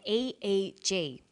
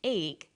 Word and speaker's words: EEG: or an acronym an eeg brain scan helps answer that say the swinburne researchers he says an e e g that's an abbreviation we don't pronounce it egg we say e e g eeg stands for electroencephalograph